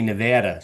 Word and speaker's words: Nevada: accent you can say Nevada you know put on your Jersey Shore accent and you can I know it R it rhymes with Vlad it doesn't mean I